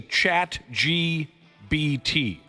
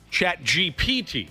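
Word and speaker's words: ChatGPT: For example, why does everyone over the age of 40 say chat GBT? I don't know the proper way to say that. What? I've never heard anybody say that. Well, what is the proper chat chat GPT? Chat GPT.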